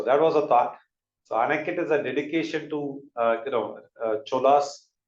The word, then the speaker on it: Anicut: And in South Indian names, like Anicut is pronounced with little bit of Anikati, Anikatu, but like I think it's one and the same in South Indian languages.